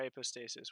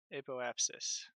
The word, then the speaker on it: apoapsis: As soon as we hit our apostasis, well, just before, maybe like here. So we can burn at the top of our apostasis, is that what it's called? Apoapsis.